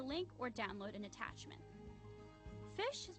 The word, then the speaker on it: phish: or download an attachment fish is pronounced just like it's spelled which is to say like the word fish the analogy is of